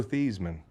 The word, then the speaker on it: Theismann: Joe Theismann. Thiesman. He changed his Thesis. name to rhyme with the Heisman, Wow.